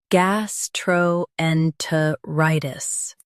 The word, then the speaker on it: gastroenteritis: Gastroenteritis. Stress rye and keep gas light.